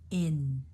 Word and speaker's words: in: time supply chain this next word a lot of Chinese students have trouble with because they associate their vowel sound in in to American English in do you hear that difference in where they take the tongue like the tongue in the back here goes up here to create that in and the front of their tongue does not touch the roof of the